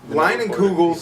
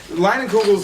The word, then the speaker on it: Leinenkugel: Leinenkugels is Cool.